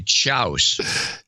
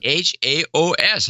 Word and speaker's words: chaos: When I was a kid, I would say chouse instead of chaos. Yeah, chouse. It's spelled chouse. It's chouse. I love chouse. It's so good. CHAOS. How is that? How would any kid think that that's pronounced chaos?